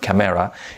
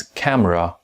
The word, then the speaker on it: camera: this word is not camera, it's camera. Camera. You see there are two syllables in this word. First one is cam and the second one is ra.